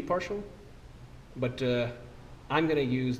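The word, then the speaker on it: ∂: deal looking thing but it's pronounced partial and yes that is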